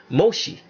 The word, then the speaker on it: Moshe: by Moshe or the person they call Moses I'm trying to pronounce his name correctly all right Moshe so now those were